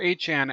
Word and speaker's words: 8chan: and they asked him, how do you pronounce the name? Is it 8chan or Infinite Chan? And it says, I prefer 8chan actually.